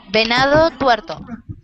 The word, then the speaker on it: Venado Tuerto: Can you pronounce the name of your town a little bit slower? Venado Tuerto.